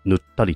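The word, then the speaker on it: 沼垂: カタカナ、あのね、沼に垂れるって書いてぬったりって読むのよ。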